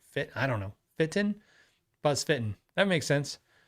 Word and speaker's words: Feiten: Um James says it's pronounced Feiten. So, that could be right. Fit I don't know. Feiten?